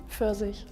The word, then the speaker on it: Pfirsich: How do you say it? Pfirsich. Yeah, that. First. But also the way it's spelled is really insane to me.